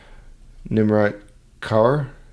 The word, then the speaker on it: Nimrat Kaur: Nimrat Kaur?